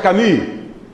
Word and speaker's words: Camus: Un señor que se escribe Albert Camus, pero se pronuncia Camus.